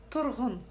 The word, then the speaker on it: тұрғын: Как прочитать букву Г с черточкой посередине? Тоже очень просто. Отхаркнуться через букву Г обыкновенную. Г, г, г. Тұрғын, тұрғын. Ну а буква И читается очень коротко. Тұрғын, тұрғын, тұрғын.